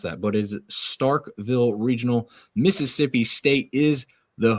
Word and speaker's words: Starkville: All right, the Starkville Regional. Not Starksville. There's a lot of people out there that mispronounce that, but it is Starkville Regional.